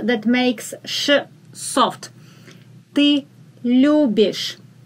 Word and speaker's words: любишь: Ты любишь. Ты любишь. The accent is on лю.